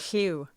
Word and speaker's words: Llyw: Clew. It's Welsh. That's how they say it in the audiobooks, is Clew. Clew. It's a really weird sound, but it's Llyw. Yeah, that's a Welsh kind of spelling.